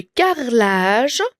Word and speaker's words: carrelage: lieu de crissement et le carelage on dit carelage mais ça s'écrit avec un e d'accord là g e c'est je mais on ne va pas prononcer le e le carlage ettin ce l le